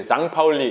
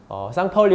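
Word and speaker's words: St. Pauli: 보통 독일어는 S가 맨 앞에 나오면은 Z 발음이 나오니까 그렇기 때문에 이제 장파울리 이런 식으로 이제 발음을 하죠.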